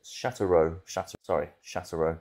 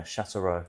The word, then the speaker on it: Sochaux: We've got Is that how you pronounce it? Sochaux. I did a save with them last on FM23. You think I would know the name? Yeah, Sochaux.